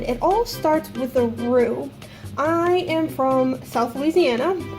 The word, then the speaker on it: roux: of our foods is what we call a roux and that's spelled r o u x room and all